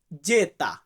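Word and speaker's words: zeta: ইফসিলন এন্ড জেড যেটাই জেড কে আমরা ইতালিতে বলবো জেতা কি বলবো জেতা সো ভিউয়ার্স এইখানে কিন্তু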